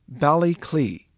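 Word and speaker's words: Baile Átha Cliath: a dublin native how that's pronounced they'll say balikley this is pronounced dun leary and this is pronounced finn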